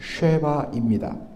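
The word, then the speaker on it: שבא: 그러한 이야기를 다루고 있습니다 스바라고 그렇게 되어 있고 또 무도를 보면 씨바라고도 되어 있는 문을 보게 되는데 정확한 히브리어 발음은 쉐바입니다 쉐바의 현재 위치를 뭐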